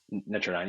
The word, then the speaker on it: Netradyne: I mispronounced them before, but was that what they were called? Yeah, Nine. Netrodyne, yeah.